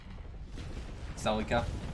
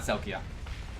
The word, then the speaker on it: Celica: Celica? Celica, not Selkia.